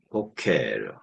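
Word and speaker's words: בֹּקֶר: 것이 특징입니다 세페르 책 그다음 단어는 보케 보케 그래서 보케르 아침이라는 뜻입니다 그리고 맨 앞에 액센트가 있죠 보 아침 이런 뜻이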